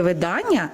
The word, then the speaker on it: видання: Тільки видання наголос на другий склад. Видання.